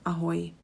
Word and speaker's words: Ahoj: Ahoj. Ahoj. We've got another greeting. This is the informal. Hi. Ahoj. Here I would like you to focus on the y pronunciation. Ahoj.